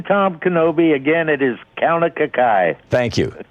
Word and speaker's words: Kaunakakai: It is Kaunakakai. Thank you, Kaunakakai.